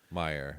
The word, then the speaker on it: Mayer: Now, the fourth person is this Timothy Mayer. Yes. Meyer? How do you say that? Yes. Meyer. Well, here's what's interesting.